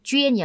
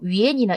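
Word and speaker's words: 捐: 왜냐면 이 글자가 왠지 이제 학생들의 발음이 쥐엔이 아니라 다른 식으로 뭐 위엔이나 이렇게 읽는 경우가 많기 때문에 원래 듣기 시험에 약간 특화되어 있는 단어다라고 생각하시면 좋겠고, 기부하다라고 기억하시면 돼요.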